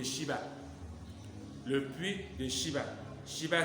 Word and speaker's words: Schiba: Shiba s'écrit S-C-H-I-B-A.